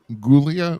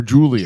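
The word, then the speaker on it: Giulia: and here's what uh static says it's pronounced uh uh gulia or Julia Julia Julia Julia so I was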